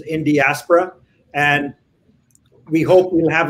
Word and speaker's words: Indiaspora: next in diaspora rajeev that's how we pronounce this is in diaspora and we hope we'll